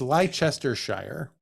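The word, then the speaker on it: Leicestershire: in Le Chester Shire which I'm sure they pronounce ler ler ler but it's leester it's leester Shire it's wild to me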